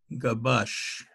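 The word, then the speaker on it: Gabaix: And one paper was by Gabash. Gabash is spelled G-A-B-A-I-X.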